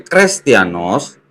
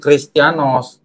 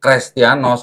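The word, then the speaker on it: Χρηστιανός: atau iota Oke jadi dari krestianos itu bukan christianos Harusnya crrestianos kalau enggak dihapus gitu ya jadi yang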